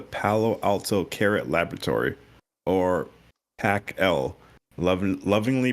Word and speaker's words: PAC-L: facility called the Palo Alto CARET Laboratory, or PAC-L, lovingly pronounced PACL during my time there.